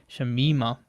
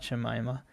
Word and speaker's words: Shamima: correcting me saying that she probably pronounces the name shamima and not jemima so good to know